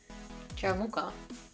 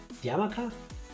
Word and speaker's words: yarmulke: Why do you see a ja? It's a Y, Tifa. I would pronounce that as a ja. I know it's... I know it's a Greek Y. I've heard it said before. Your Greek ways. It's a yarmulke, I think. It's like yogurt.